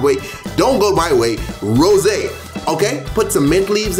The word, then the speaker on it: rosé: Followed by triple sec, followed by some rosé, okay? You see that little accent on the E? You gotta pronounce that. Rosé. You can't call it rose wine.